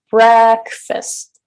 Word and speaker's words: breakfast: yes very good breakfast so the first syllable is higher in Pitch longer in duration and louder breakfast breakfast and so you